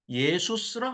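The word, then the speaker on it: Ἰησοῦς: 성령님께서 아들을 낳으리니 그 아들을 예수스라 하라. 여호수아를 헬라어로 발음하면 예수스입니다. 그게 영어로 쓰니까 지저스.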